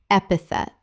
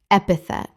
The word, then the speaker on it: epithet: Epithet. Correct pronunciation. Epithet. 3 syllables with the stress on the first.